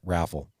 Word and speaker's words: Rayful: Matt, how do you pronounce Rayful? Let me see it. Rayful? Rayful? Yeah. Raffle? Okay, Raffle. They came in. Raffle ticket. Raffle ticket.